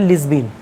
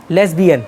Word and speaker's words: lesbian: Third gender में ये बात ध्यान रखना ऊपर, LGBTQI, एल का मतलब होता है लिस्बिन, लिस्बिन लेस्बिन, लेस्बिन बोलते, प्रोनाउंसिएशन में गलती लेस्बिन ना, लेस्बियन, लेस्बियन प्रोनाउंसिएशन में गलती हो तो गूगल पे चेक कर लेना।